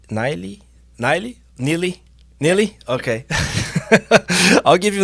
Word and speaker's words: Nili: name properly because your name has a different pronunciation it's niley niley niley neely neely okay i'll give you a needy block